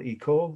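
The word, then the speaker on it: école: think of it but it was called e cole it's french you don't have to worry about the spelling it's french for school e-c-o-l-e of bosar meaning the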